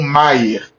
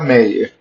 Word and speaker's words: Méier: conta disso a região ficou conhecida como Mayer pronúncia original tempos depois os moradores aportuguesar o nome para meer a partir da segunda